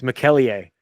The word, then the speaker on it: McKellier: Yeah, it's McKellier. So that's the accurate way to say it, but we call him McKellier.